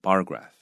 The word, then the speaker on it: bar graph: Yeah, 所以这个我想当然你如果知道你讲出来的发音会让人家听起来很刺耳的话，我相信你也会想要把它改掉。啊，所以一个一个改啊，你知道原则很好，然后一个一个特别注意，啊，一个一个提醒自己啊，这个叫做 bar graph.